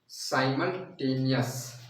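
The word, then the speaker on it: simultaneous: अब इसका इंग्लिश नाम भी बता देते हैं, इसको बोलते हैं साइमल्टेनियस। ठीक है, तो इसको थोड़ा सा लिख देता हूँ स्पेलिंग को, साइमल्टेनियस करके लिखा था, साइमुल, ठीक है बच्चों, और ये होता है टेनियस, टेनियस, ठीक है, साइमल्टेनियस बोलते हैं।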